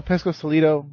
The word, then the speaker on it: Pescosolido: And tonight's guest, we have Pesco-Solido.